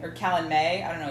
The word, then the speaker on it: Calanmai: or Calanmai. I don't know. It's M-A-Y is the last one. M-A-Y. Oh, then it's Calanmai. Calanmai. Calanmai. Okay, so we've been saying that wrong.